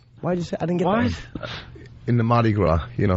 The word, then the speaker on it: Mardi Gras: dictionary what is Mardi Gras he almost said Maddie Maddie what is Mardi Gras its celebrate I totally I don't know the festival how do you say it Mardi Gras and how do you spell Mardi Gras ma